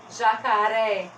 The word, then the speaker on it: jacaré: forte você é oxítona jacaré última sílaba mais forte deixa eu ver se